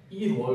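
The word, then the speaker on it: 일월: लेख्दा चाहिँ इलवल लेख्ने तर यसको उच्चारण विधि चाहिँ इरवल हुन्छ।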